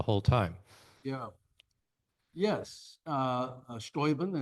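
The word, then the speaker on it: Steuben: Uh, Stoben, as the Germans pronounce it, u show is a fantastic character.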